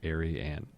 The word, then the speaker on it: Ariane: Just imagine somebody named Anne who's a bit of an airhead, and you will call her Ariane.